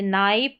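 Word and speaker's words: knife: अब नंबर 10 पर है के एन। यहां पर के साइलेंट रहता है। एन से शुरू करेंगे। जैसे नाइफ और नो। के एन का कॉम्बिनेशन। यहां पर के साइलेंट रहता है। के का उच्चारण नहीं होता। इसको हम नहीं पढ़ते हैं। लेकिन हां, स्पेलिंग में लिखना पड़ेगा।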